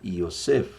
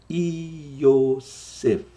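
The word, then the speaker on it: Yosef: José e o nome José vem do hebraico iosef E aí eu gosto às vezes de pronunciar devagar para te ajudar aí iosef ef você termina fech de na boca iosef iosef iosef iosef para ficar legal sua pronúncia Lembrando que eu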